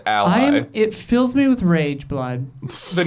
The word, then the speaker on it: ROG: It's rag. It's it's not a mystery. You are the only people who have ever been confused about this.